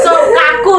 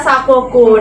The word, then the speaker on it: Sakoku: Sokaku dia bacanya. Oke. Yang benar adalah Sakoku.